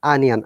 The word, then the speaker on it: onion: this o sound but how do you pronounce this word onion onion okay remember there is no there is no o sound in this case as well it is onion ah onion can you